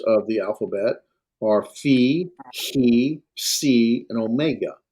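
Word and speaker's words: φῖ: down the center, and it pronounced like as in phone, right? Phone. Now, when we do transliteration for a phi, chi, and si, we'll use 2 letters.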